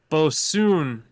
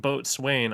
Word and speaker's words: boatswain: and bought this uh what they say is pronounced bosoon which looks like boat swain on the cannon but yeah it looks like